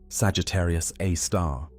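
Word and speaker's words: Sagittarius A*: Now, at the very core, at the precise center of the Milky Way's rotation, resides Sagittarius A, pronounced Sagittarius A star, the super massive black hole of about 4 million times the mass of our sun.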